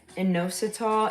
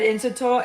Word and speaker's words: inositol: I made my first video for, thank you, Kevin, for inositol, and I effing said it wrong in the video. I said inositol, it's inositol.